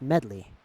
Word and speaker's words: Medli: earth sage let's roll I kept saying her name wrong it's not Madea it's medley like like a song medley I get it all